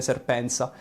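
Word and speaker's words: Serpentza: Comunque, se vi interessa questo argomento, c'è uno youtuber assai famosissimo che si chiama Serpent ZA, quindi in italiano si leggerebbe Serpenza, che è un sudafricano bianco che ha ovviamente una grande conoscenza del suo paese.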